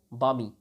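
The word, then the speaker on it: balmy: Next word है वामी। एल इसमें silent रहेगा, इसे वामी पढ़ा जाता है।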